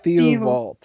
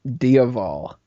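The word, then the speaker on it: Diaval: his name the ofal I thought it was theal and apparently it's spelled D i a v a l dial oh yeah I've been way off I've been saying it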